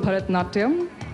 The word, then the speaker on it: Bharatanatyam: Help me pronounce it and show us a few steps. Well, it's called Bharatanatyam.